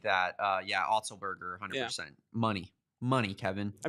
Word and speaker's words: Otzelberger: It's like Otzelberger? Yeah, something like that. Otzelberger, 100%. Yeah. Money, Kevin. I mean, I'm the pronunciation guy.